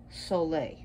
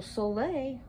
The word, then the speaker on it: Saule: and lunar gods so soleil i'll be using her lithuanian pronunciation is the most powerful